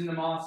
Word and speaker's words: MnemOS: it out um so the name which everyone has trouble pronouncing it comes from a nemosity who's the Greek goddess of memory I figured for an operating system managing memory is pretty important so I went with that uh if you need to remember how to pronounce it it's like mnemonic same word memory operating system you are